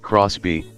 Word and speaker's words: XBEE: and lots of space the xB pronounced Crosby is a mini toyota